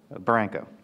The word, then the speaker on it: Barranco: To his right is Colonel John Barranco. Did I pronounce that correctly? Barranco.